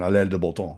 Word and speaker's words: Alain de Botton: Alain de Botton. I think I'm not sure I'm saying it right. If you say it with the French pronunciation, Alain de Botton, Okay.